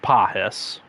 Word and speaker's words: Pages: And Gunnar Henderson is tied for 27th with 122 with Freddie Freeman and Andy Pajas It says it's spelled Pages, but it's pronounced Pahis, I think.